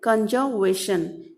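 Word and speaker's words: conservation: Here is what, कंजर्वेशन। What, are is silent here, so what do we call, कंजर्वेशन।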